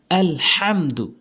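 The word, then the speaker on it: الحمد: আলহামদু, এখানে হামজালাম জবর আল, এটি যজমান নিয়ম, কোনো টান হবে না।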